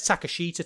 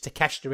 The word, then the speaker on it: Takeshita: allen angels uh uh i always pronounced this wrong and it says takashita to me but it's takeshita isn't it kansuke takeshita and uh